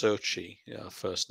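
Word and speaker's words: Xochitl: but i think it's her name is um pronounced differently to how it's spelt it's pronounced sochi you know first name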